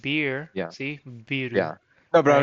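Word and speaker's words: ビール: But yeah, we got into that because I said biru and I was making fun of myself, but that is how you pronounce beer in Japanese, and Yeah.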